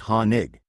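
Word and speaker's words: Hoenig: Pronounced Honig.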